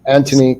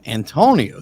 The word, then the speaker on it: Antoni: Antoni, that's how it's pronounced. Anthony. Okay, see, I've heard people announce your name as Antonio.